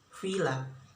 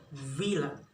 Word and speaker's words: villa: V is pronounced by villa by the learners Indonesia learners say F, villa, but the right is V, villa. Okay, next pronunciation.